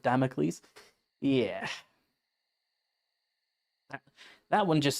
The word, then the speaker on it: Damocles: Said it like damels instead of Damocles.